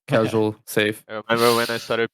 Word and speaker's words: saffee: that he wanted to know how to pronounce Safe's name. So Just I mean, Safe said it. Yeah, Safe said it himself.